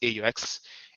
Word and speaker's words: AEUX: A lot of people call it maybe AUX Some call it AEUX. I call it AEUX because it's for me it's just more like I would say like a short form, right? Like an anagram, but many people pronounce it as AUX.